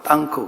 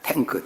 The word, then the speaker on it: 탱크: 탱크, 그래서 전쟁 때 나오는 북한 사람들은 러시아 발음으로 땅크 그러는데 그거 아니고요. 그냥 탱크, 저장소 이런 말입니다.